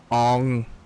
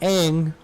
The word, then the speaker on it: Aang: the character who played Ong, not Aang, Ong. You know, that powerful and memorable character from M. Night Shyamalan's Last Airbender, Ong. I didn't even want to look at the water. Oh god, the pronunciation was fucking awful too.